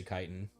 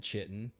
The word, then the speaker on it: chitin: Oh I always know how to say chitin. I've never said I've never said chitten.